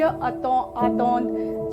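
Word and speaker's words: attendre: RE हटाइए, ज आतौंद, थ्यू आतौंद, इल आतौंद, नू आतांदों, वू आतौंदे, एंड ill plural and L plural आतौंद, क्योंकि ENT साइलेंट होता है।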